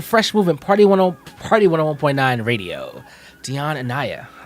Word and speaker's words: Dionne Anyáh: Dionne Anyáh.